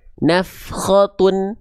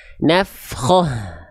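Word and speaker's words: نفخة: Contoh misalnya kalau kita ee enggak berhenti di sini maka kita bacanya nafkhatun. Harakat domatainnya tetap dibaca. Apakah dibacanya tun atau tidak? Nanti kita bahas. Harus dilihat huruf berikutnya apa. Ah, gitu ya. Tapi kita bahas dasarnya dulu. Kalau kita berhenti jadinya ha besar sukun nafkhoh gitu ya.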